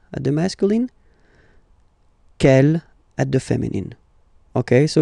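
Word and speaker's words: quelle: C l L, but it's pronounced like the masculine form. K at the masculine, kel at the feminine.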